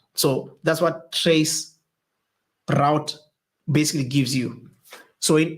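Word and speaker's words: tracert: I'm going to introduce a new command that we haven't spoken about, and that command is called trace route, but it is spelled as trace RT.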